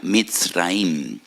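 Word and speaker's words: מצרים: Y recuerdan la aflicción, la amargura de la esclavitud, porque la palabra Egipto en hebreo se pronuncia Mitzraim.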